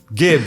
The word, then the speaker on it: gib: Gib, I guess, is the correct pronunciation. No, jib, because of giblets.